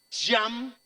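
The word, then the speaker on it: ים: realidad es un lago, en hebreo se pronuncia Yam, o se deletrea Yam y se escribe Yam, que significa un estanque con mucha agua, tal cual.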